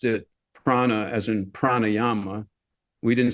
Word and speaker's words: prana: According to the sometimes fallible internet, it's simply pronounced prana, which is how we always pronounced it, rather than the Buddhist word for wisdom, which is pranya. But they're spelled the same way with little different diacritical marks to give you the slightly different pronunciation.